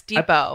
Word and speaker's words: Depot: Oh, it's Depot. I believe the T is silent.